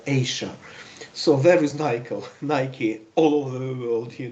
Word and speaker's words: Nike: very interesting article with the title there is Nike somebody pronounces this word like Nike it is the company producing the sports equipment but originally it must be pronounced as Nike so there is Nike the money and the